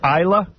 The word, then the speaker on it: Isla: Is your name pronounced Isla? Yeah. Okay, this is Isla Borders.